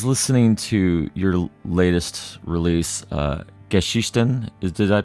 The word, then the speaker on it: Geschichten: I was listening to your latest release, Geschichten. Did I pronounce that correctly? Yeah, it's okay. Geschichten, yeah.